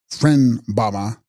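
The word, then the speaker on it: Phreng-ba-ma: These are corrupt forms, hybrids of Sanskrit and Tibetan, their Sanskrit equivalents being Mala and Dupa, and their Tibetan equivalents Frang Bama, pronounced Fren Bama, and Dug Sposma, pronounced Dugpoma.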